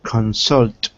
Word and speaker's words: consult: consult wait pronunciation consult consult yeah remember if it's a verb it'll probably be stressed on the second syllable not consult but consult consult consultant consultant for personal